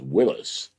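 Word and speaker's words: Willys: Boyd says Willis is pronounced Willis. Apparently, that's how Big Daddy Garlic pronounces. I have a friend that has those things, and that's what he always says, Willis.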